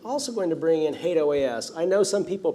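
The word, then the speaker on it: HATEOAS: in years past I can assure you that hate OAS is the proper pronunciation of that if you don't want to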